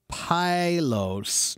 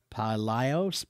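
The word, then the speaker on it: παλαιός: So we get the word pylos. No, how do you pronounce that? Let me see. Palaios, which means old or ancient, and ontology, meaning the science or study of.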